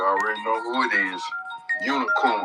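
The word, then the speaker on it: Unigcorn: Unicorn. The G is silent.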